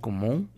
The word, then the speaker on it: comment: Vuvuzapele como, voilà. Vamos con la número 2. La número 2, ya tenemos la primera palabra, ya sabes cómo pronunciarla. Como, la T no la pronuncias.